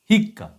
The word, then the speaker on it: হিক্কা: দেখালাম এরপরে লিখবো হিক্কা হিক্কা এখানেও সেই বিষয়টা একই হরসকারে হি কটা কম উচ্চারিত হচ্ছে হিক তারপরে ক আকারে